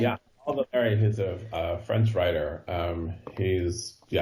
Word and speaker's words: Valéry: Is that how you pronounce his name? Yeah, Paul Valéry.